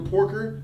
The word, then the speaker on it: Porker: As far as Peter Porker, they did an excellent job not making that nigga in this movie too much with his stupid comedy and shit that I expected. They gave me just enough Porker, you said it right.